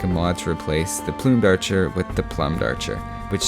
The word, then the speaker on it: Plumed Archer: I'm just kidding, it's pronounced the Plumed Archer, you know, like feather plumes. There is no chance at all that up until this year I've been pronouncing it the Plumed Archer.